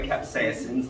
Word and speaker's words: capsaicin: active ingredient is um capsaicin capsaicin sorry capsaicin's the pronunciation and um it's a